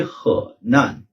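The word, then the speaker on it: 河南: ह इसके बाद एन इनिशियल है और ए एन फाइनल है। ह नन ह नन। सो इस प्रोविंस को हम प्रोनाउंस करेंगे ह नन।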